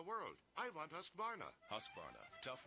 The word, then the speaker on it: Husqvarna: so i teach you now how to say husqvarna you say husk like corn and barn like